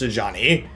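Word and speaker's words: Sejuani: I don't mean to be annoying, but I was watching your Frozen Mushrooms videos, and Sajani is pronounced Sajani.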